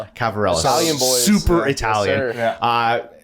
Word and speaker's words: Ciavarella: Cavarella.